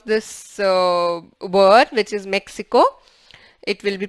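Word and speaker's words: México: Okay, the sound is like h, somewhere between k and h. So for example, if I pronounce this word, which is Mexico, it will be pronounced as Mexico.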